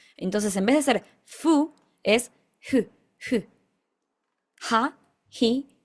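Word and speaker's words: ふ: Esta acá, aunque dice fu, no es la F de nuestro español, es más una mezcla entre la F del español y la H del inglés.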